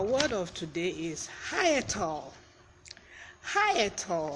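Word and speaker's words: hyetal: world of our word of today is hiatal high at all high at all is pronounced h ye g and it's an adjective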